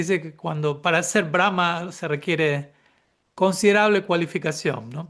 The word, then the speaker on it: Brahma: Ahora, Brahman, por pronunciar puntualmente, uno es Brahma, ¿no? El que va con la A larga, el arquitecto cósmico universal,